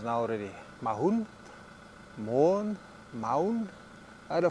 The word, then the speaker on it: Maun: It seems that the pronunciation or the the name stems from Mahung, M A U N G. So I I think Mahun with an N at the end is probably the most appropriate pronunciation, but who knows with these things.